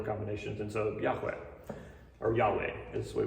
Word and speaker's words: Yahweh: The pronunciation is not entirely known. We don't really know exactly how to pronounce it. We have a YHWH, because again, Hebrew is right to left. We have YHWH, and the vowels that were supposed to be there are unclear.